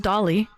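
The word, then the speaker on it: Dalí: Um, so yeah, it's pronounced Dolly cuz he is Spanish.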